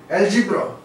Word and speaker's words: algebra: Algebra, not algebra. Algebra. This first sound is a sound, and then mul sound, and this is again j sound.